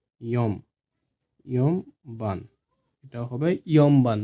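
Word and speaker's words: 四番: কারণ ন আর ব যখন একসাথে হয়ে যায় তখন এটার উচ্চারণ হয় ম হিসাবে। ঠিক আছে? সামবান। ৪ হবে ইয়মবান। এটাও সেম, ইয়ংবাং হবে না, এটা ন না, ইয়ন হবে না, এটা হবে ইয়মবান।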